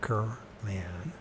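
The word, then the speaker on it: Kirlian: Semyon Kurlian, that's how to pronounce it right, Kurlian, a Soviet electronics engineer,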